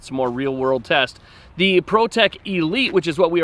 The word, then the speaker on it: Prot3k: Both are from Protec. It's spelled Prot3k.